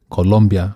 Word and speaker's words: Colombia: It's Colombia, not Colombia. People spell it with a U. Yeah, Colombia. I want to yeah. clarify. It's COLOMBIA, Okay. not COLU.